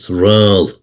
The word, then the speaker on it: Raghnall: name of Norse origin, but it's Rall. That's how it's pronounced. Rall. Raghnall. Rall.